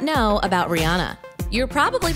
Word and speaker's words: Rihanna: want to know what Rihanna has in common with the Kardashians keep watching to find out here are 10 facts you may not know about Rihanna you're probably pronouncing her name wrong anyway Rihanna but did